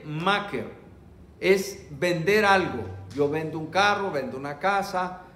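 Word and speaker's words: מכר: En hebreo son 3 palabras, M-K-R, vender, y se pronuncia yen maker, es vender algo.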